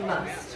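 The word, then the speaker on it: musth: And that socialization can be I've seen some apple slices called must, which is spelled mus h.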